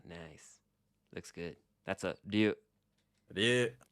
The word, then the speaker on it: ryu: Next is ryu.